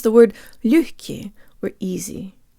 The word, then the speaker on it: лёгкий: to pronounce the word лёгкий, or easy. Let's say the second syllable with good Russian default mouth position. Jaw slightly forward, tip of the tongue behind the bottom teeth, lips rounded and protruded.